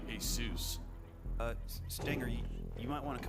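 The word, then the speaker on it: Jesús: name Derek middle name Jesus I think they'd pronounce it hey soos uh you might want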